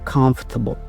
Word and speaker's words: comfortable: How do you pronounce this word? Comfortable. No, that's wrong. Okay, comfortable.